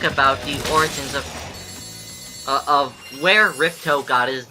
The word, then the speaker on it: Ripto: spell Spyro's name like R-I-P-T-O. It's somewhat It's actually pronounced Ripto, but it's technically, this is how they got the name for the villain in the sequel, Ripto's Rage.